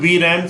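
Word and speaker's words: VRAM: रैंडम access memory and इस pronounce बी राम system राम इसे great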